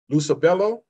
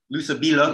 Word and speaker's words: Lusabilo: Is that Lusabello? Lusabilo. Lusabilo. Lusabilo. Lusabilo. Yeah.